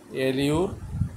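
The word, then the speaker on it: allure: এলিউর টুপারা এলিউর এলিউর এই রটা আমি ব্র্যাকেটে রাখছি এইজন্য কারণ ভাওয়েলের পরে যখন আর থাকে তাহলে সেটা কিন্তু আমেরিকান এবং ব্রিটিশরা উচ্চারণ করতে পারে না তাই এইটা আমরা যদি এল ইউ এল ইউ উচ্চারণ করি তাহলে কিন্তু এটা ওরা যখন বলবে তখন আমরা বুঝতে পারবো বা আমরা যখন বলব তখন ওরা বুঝতে পারবো এল ইউ আর এলি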